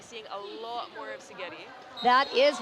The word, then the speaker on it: Szigeti: And her coach says it's Szigeti like spaghetti. Like spaghetti, yes, so Szigeti. That's a good way to remember it, because I think we'll be seeing a lot more of Szigeti.